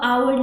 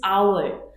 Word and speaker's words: hour: the pronunciation, it is hour. Hour. So it starts with O, hour, right? So based on the sound, it is sounding like a vowel and therefore we use an hour late.